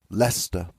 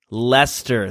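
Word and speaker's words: Leicester: A weird pronunciation that us Canadian folk don't know how to say properly. Lester. Lester.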